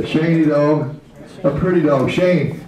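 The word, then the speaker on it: schen: dog a pretty dog Shane s c h e n is Shane it's pretty sh remember e is pronounced a have a good nice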